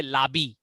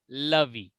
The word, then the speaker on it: Lovey: Okay, and some people they say labi, you know. So the right pronunciation is lovey.